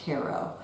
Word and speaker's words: Cairo: And but it's pronounced Cairo.